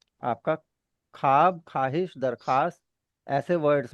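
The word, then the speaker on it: درخواست: इस तरीके से दरख्वास्त दरख्वास्त नहीं होता। दरखास्त होता है।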